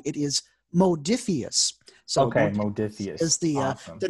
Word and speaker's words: Modiphius: star trek adventures role-playing game right now i pronounced the name of the company wrong it is modiphius okay the name of the people who make